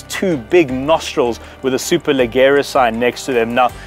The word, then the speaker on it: Superleggera: That's not how you say it. Superleggera. That's better.